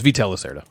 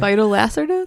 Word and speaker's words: Vital Lacerta: okay that's my number three vital lacerta it's veto locerda i've heard i've heard so many people pronounce his name incorrectly phytolacia that's how they say well that's a little